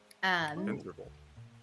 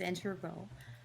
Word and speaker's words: integral: Integral. A couple of different pronunciations there. There's integral. Integral.